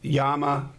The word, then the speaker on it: Llama: llama micromax uh now some people pronounce it yama but uh i'm not spanish and it's llama and it to me